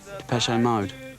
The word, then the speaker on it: Depeche Mode: And we chopped off the accent and we just kept the pronunciation. Maybe I can show you just how. Depeche Mode show just how much futurism has changed now it's hit Essex.